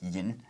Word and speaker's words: 飲: So in Mandarin we say 喝 to mean to drink, and in Cantonese we say 飲, and then pronounced in Mandarin that's yin, which is actually the classical Chinese way of saying drink.